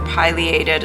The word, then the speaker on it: Pileated: one of them was a p ped or Pileated it's been pronounced both ways woodpecker so I started